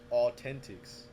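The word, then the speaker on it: AU10TIX: also another company called Authentics, which is, it's funny because they spell it AU10 ticks, but like Oh, if you yeah. if you see it, it's Authentics.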